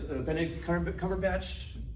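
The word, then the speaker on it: Benedict Cumberbatch: great system for motion capture um this is Bennett C cover batch that's how you say his name he's um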